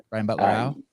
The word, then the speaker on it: Brian Butler-Au: This is Brian Butler-Au. Did I say it right? Brian Butler-Au?